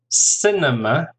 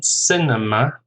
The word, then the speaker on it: cinema: Cinema, the same, cinema.